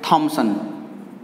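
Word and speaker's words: Thomson: थॉमसन ने क्या कहा था, इसे टॉमसन भी बोल देते हैं हम। अंग्रेजी और हिंदी में बोलने में थोड़ा परिवर्तन हो जाता है, इसलिए प्रोनाउंसिएशन के आधार पर आप टॉमसन और थॉमसन बोल सकते हैं।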